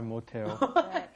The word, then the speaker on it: 못해요: Now, notice that pronunciation may sound a little strange. You've got 못, which has an S at the bottom, followed by the H, 하다. Why does it come out te?